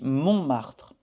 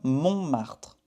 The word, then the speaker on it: Montmartre: Ici, il y a un T et on ne le prononce pas. Il est muet en français. Donc on dit Montmartre. D'accord? Montmartre.